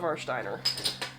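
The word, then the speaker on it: Warsteiner: me I'm all about Marsh diner so and that is the German pronunciation so war Steiner that's how you can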